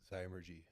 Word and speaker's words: Zymurgy: Zymurgy.